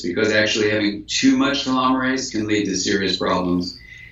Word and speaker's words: telomerase: You can increase this length of the cap with telomerase. So it's telomere, and in biology we say ASE for an enzyme. So it's telomere ACE, but it's pronounced telomerase.